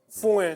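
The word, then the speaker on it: fouine: C'était écrit foin. Foin. F-O-U-I-N. Foin. Mais c'est bon, ça se prononce foin.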